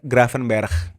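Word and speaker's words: Gravenberch: ya buat gua ya sebenarnya pronunciationnya gravenbge itu apa ada yang bilang graavenberg ada yang bilang gravenbge kalau coachi orang Belanda bilangnya gravenberg Iya itu benar gimanaim koc orang Belandanya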